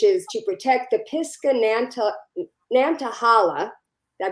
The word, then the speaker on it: Nantahala: heart piska which is to protect the Pisco Nantahala did I pronounce that right you got it national forest